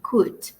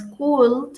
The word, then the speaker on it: could: más polite con el could. Recuerden que para la pronunciación eliminamos la L, no es cul, sino could. Could sin la L.